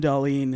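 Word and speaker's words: Dahlén: with dolene I still want to call him Doan but is it dollene yeah I've been told it's Jonathan Dalene is more correct pronunciation darling there you go now I got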